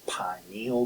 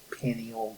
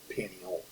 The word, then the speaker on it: pineal: And then we have I was taught to pronounce this pineal gland because of its resemblance to a pine cone. Some people call it the pineal gland, and I think if you're on the ebook and click on this word, you can get it to pronounce it, and I think it will pronounce it pineal. So I could be wrong, but pineal is the way I have always pronounced it.